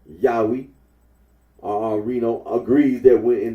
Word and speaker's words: Yahweh: the name now yahwe the scholarly consensus is that the original pronunciation of the tetr was yahwe Oro agrees that when